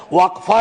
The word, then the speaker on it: वक्फ: और अलग अलग लोग इसका प्रोनाउंसिएशन अलग करते हैं, कोई वक्फ बोलता है, कोई वकफ बोलता है।